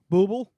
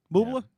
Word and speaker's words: Bublé: It's pronounced Booble. Booble? Yeah. Booble.